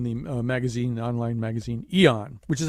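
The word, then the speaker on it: Aeon: started uh in the magazine the online magazine Eon which is how we've decided to pronounce the name of the magazine now even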